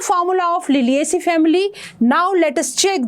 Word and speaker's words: Liliaceae: ठहरो, spelling check करो. LILIACEAE, लिलिएसी.